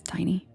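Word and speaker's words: Tinie: Yeah, Matt, I think he does spell it like tinny, but it's Tiny Tempa.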